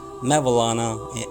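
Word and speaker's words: Mevlana: known by the subrequit which means maulana or maulana in persian in persian pronunciation and in iran and popularly known as mavilana and in turkey mawlana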